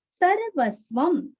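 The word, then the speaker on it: सर्वस्वम्: सर्वस्वम, सर्वस्वम अनुस्वार का उच्चारण आधा म।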